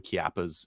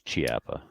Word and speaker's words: Chiappa: I think there's some Chiappas and some Petersolis that are a little bit less if they're not. Name another word. Name another word that starts with the letters CH that's pronounced K. It's Chiappa.